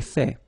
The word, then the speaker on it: fait: So remember, final T is not pronounced. J'ai fait.